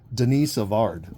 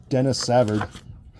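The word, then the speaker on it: Denis Savard: calendar with the horses Denise avard well old Danny or Dennis I guess if you really want to say it wrong Dennis Savard right I should just start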